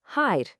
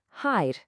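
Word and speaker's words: հայր: In Armenian, that's hide. It's pronounced simply as hide. It's just one quick crisp sound.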